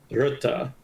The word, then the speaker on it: Rutte: Rutte, okay. Let's go with that. I've used Rut, I've used Rutts, I've used Rutte.